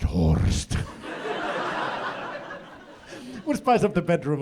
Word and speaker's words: Horst: a new person like this is my friend horse I would always have to correct them like excuse me it's pronounced hored would spice up the